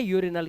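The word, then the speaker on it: urinal: तो ये अरिनल होता, ये है यूरिनल, क्योंकि यू के बाद आर, एक कॉन्सोनेंट और एक कॉन्सोनेंट के बाद दूसरा कॉन्सोनेंट तो है नहीं, वाउल दे रखा है यहाँ पर, इसलिए इसका उच्चारण यू से हो जाता है।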